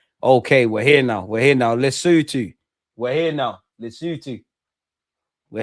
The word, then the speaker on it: Lesotho: It's pronounced Lesotho.